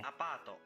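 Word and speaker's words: アパート: Apato. Apato. Did you hear it well? The word is pronounced apato. Apato.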